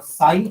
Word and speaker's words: psi: is given as इसको साइन बोलते हैं. जो सिंबल है ना, ये साइन बोलते हैं. स्पेलिंग इसकी पी से चालू होती है, पी साइलेंट है, साइन.